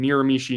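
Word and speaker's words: Miramichi: Yes, everyone is saying Miramishi now in chat.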